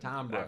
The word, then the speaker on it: Tombras: I think a lot of people are learning how to pronounce it Tombras.